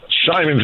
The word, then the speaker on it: Simons: It's Simons, right? Simons is correct.